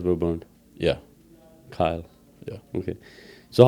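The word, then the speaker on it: Kyal: A E L and she pronounced it Kyle.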